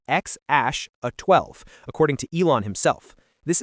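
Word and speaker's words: X Æ A-12: His name X AE A12, pronounced X Ash 12.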